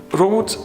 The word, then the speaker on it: Roth: a little town called Roth spelled with a th but in German th is pronounced like a T brought in many respects is